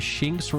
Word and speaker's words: Shinx: based on lynxes because shinx rhymes with links use thunderbolt hello lemonade